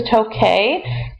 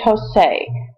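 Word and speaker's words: toqué: So we change tokar yo form to tokay, QU, because if it was a C, it would still be tosei. We want to keep the ka sound.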